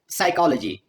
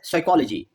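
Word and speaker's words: psychology: और last example है साइकोलॉजी एज साइकोलॉजी, living out the silent P.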